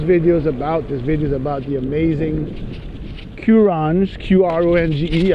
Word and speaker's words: Qronge: This video is about the amazing Qronge, Qronge. I heard it pronounced Qronge, so I assume that that's the correct pronunciation.